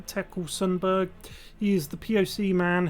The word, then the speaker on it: Tekle Sundberg: to the situation with i believe his name is pronounced tekkel sundberg he is the poc